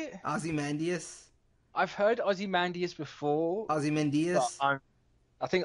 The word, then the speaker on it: Ozymandias: Manhattan puppets and most likely Ozymandias somebody somebody initially thought it could be Black